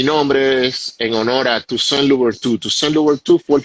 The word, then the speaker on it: Toussaint: Toussaint, Tuset. Toussaint. Sí, es un nombre francés. Tusen.